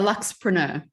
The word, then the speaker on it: Luxpreneur: The Luxpreneur.